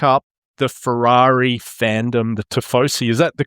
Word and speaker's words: tifosi: And just soak up the Ferrari fandom, the tifosi. Is that the correct pronunciation?